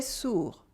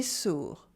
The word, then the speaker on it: sourd: Je suis sûr qu'il est sourd. Je suis sûr qu'il est sourd. I'm sure he's deaf. Here you have the difference between sûr and sourd. Je suis sûr qu'il est sourd.